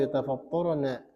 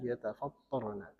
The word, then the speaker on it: يتفطرن: Takadu samawati yatafattarna bin nuni wa fi qira'atin bitta'i wa tasydid min fawqihin. Ada beberapa qiraat juga ya. Kita membacanya yatafattarna.